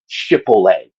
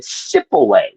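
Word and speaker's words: Shibboleth: The tribe of Benjamin couldn't pronounce the word Shipole. They said Sipole.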